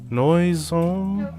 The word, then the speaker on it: noisome: A fetid sprawling of noisome, Got stuck on your body.